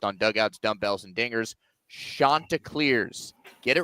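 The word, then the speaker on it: Chanticleers: Shantaa Clears.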